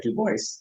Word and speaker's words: Du Bois: Du Bois here again, or I'm sorry, Du Bois, to pronounce it the way he would.